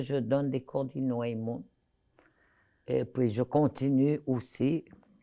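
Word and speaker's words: Innu-aimun: Je le prononce bien. Aimun.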